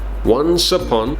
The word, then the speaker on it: once upon: Once upon. The S sound moves on to the second word, right?